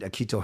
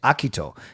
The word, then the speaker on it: Akito: But technically his first name, you could say it actually Akito. You could put the accent on the first syllable. So instead of Akito, you say Akito. So technically it's Akito Hirose.